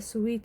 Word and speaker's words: suite: in a rest house a suite it was called for some reason and pronounced suit to some other room